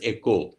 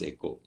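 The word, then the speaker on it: oikos: understand this word eco derived from the greek word o i k o s which is pronounced as echo so this is pronounced as echo this word means home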